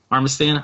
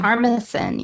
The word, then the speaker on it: Armisen: Armistan? How do you say his last name? Armisen, yeah.